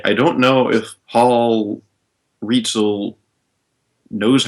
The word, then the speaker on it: Rietzl: erro in the chat is saying that it's pronounced reel sorry Paul sorry Paul if I mispronounced it as well all right it's apparently reel all right good I hope he knows the